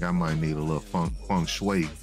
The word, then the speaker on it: feng shui: I think I might need a little feng shui.